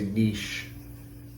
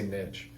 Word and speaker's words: niche: base, and I also always feel like I pronounce that word wrong because people get, if you don't say niche, I say niche.